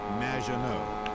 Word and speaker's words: Maginot: Which rhymes with badge, as in duh, and no as in more than you. Maginot.